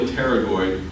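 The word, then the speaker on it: pterygoid: a lot in medicine if you see a p followed by another consonant the p is silent so the temporalis muscle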